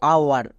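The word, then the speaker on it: hour: এর ক্ষেত্রে নিয়মটি হচ্ছে এইচের পরে যদি ও থাকে তখন এইচ সাইলেন্ট থাকে, এইচের পরে ও থাকলে এইচ সাইলেন্ট। যেমন দেখো আওয়ার, এখানে এইচ আছে এবং এইচের ঠিক পরে কি আছে?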